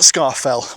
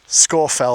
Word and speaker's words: Scafell: But I do hope that this video has encouraged you and educated you so that you know that it's not Scarfell or Scarfell Pike, it is Scorfell.